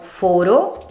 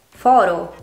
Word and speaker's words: foro: Queste parole sono dunque uguali nella scrittura ma ben diverse nel significato e grazie alla pronuncia differente della loro E o della loro O le possiamo distinguere.